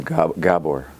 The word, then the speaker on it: Gabor: Claire, just for the sake of clarity, the name is Gabor.